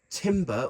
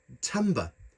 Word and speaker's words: timbre: although it it looks as if it says Timber or Timbre or Timbre I've done some research it is actually pronounced Tamba that's what they call sounds on this keyboard